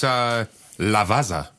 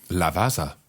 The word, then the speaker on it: Lavazza: It's Lavazza. Is that how you say it? It's how I'm saying it. Do you want to say it again? Lavazza.